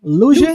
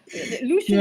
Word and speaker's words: Lucian: Lusian. Lucian. Lucian. Okay. Lusian. In the the second one is is a little bit difficult for me. Lucianic. Lucianic. Yeah. So again, Lucian is actually the second text critic if I